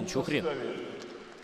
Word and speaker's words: Нечухрин: Видимо, так правильно звучит ударение. Даниил Нечухрин.